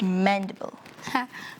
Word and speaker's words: mandible: You would have said mandible. Mandible. It rhymes with edible because all animals eat.